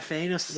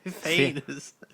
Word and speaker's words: Thanos: That's right, Thanos. Oh yeah, because you don't pronounce the A. It's a secret squiggly I and an E. Thanos. Yeah, it's like anus but with a th.